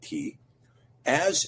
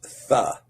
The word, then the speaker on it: Tav: Well, Tet is pronounced Ta, like T, as is Tav. Sometimes Tav is pronounced Ta, sometimes Tha, Th.